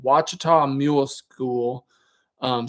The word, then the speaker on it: Ouachita: channel, which is called Ouachita Mule School. Um, spelled I think it starts with an O A. It's not spelled with a W, but Yeah.